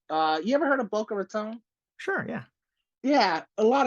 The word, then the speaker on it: Boca Raton: stuff and uh they will always have that pronunciation where it's like it's Boca Raton not Tom and someone's like oh my bad